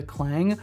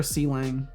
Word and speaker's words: Sealang: Also, Seto, for context, Sealang is pronounced like the onomatopoeia clang. Oh. It's clang? Okay. That's kind of boring. I prefer Sealang.